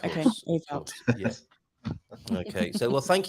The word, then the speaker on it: Ewout: You can call me Hey You, but it is pronounced Ewout.